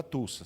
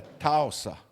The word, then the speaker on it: Tulsa: O nome não é Tulsa, segundo a Lorenda é Talsa, né? Pronúncia, né? A gente lê Tsa, mas pronuncia Talsa.